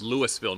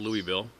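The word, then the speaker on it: Lewisville: Oh, it's Louisville, not Louisville.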